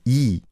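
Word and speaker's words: 이: So the closest name, Yi, was Lee.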